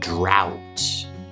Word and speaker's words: drought: are though and do next up we have the ow sound you'll hear this in words like bow plow and drought next up is the